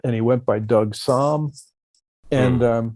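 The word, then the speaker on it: Sahm: I think I was first told Doug Som. Som is how you pronounce his name, right?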